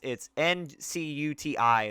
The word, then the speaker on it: Ncuti: It's not how you would imagine it's pronounced, or I mean spelled. It's Ncuti is how you pronounce his first name.